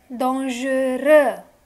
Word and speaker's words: dangereux: Dangereux. X is not going to get spoken. This is silent.